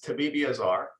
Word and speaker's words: Tabibiazar: So I asked, as all good hosts would do, I asked for the proper pronunciation of the name Tabibiazar. And Dr. Tabibiazar, you told me. So it's correct. It's Tabibiazar, and Tabibi means doctor, and Azar means fire.